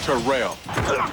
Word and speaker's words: Terrell: of the two thousand yard club and it's pronounced terrell terrell davis joins an all-pro lineup on nfl